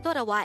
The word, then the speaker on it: 돌아와: daihango word number 165 this is pronounced as a three-syllable word the first syllable is tor second syllable is a and the third syllable is wa pronounce it with me